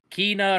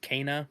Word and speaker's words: Kana: the rods are adorable kina her kina or i guess her name is pronounced kana is how pronunciation is as a character she's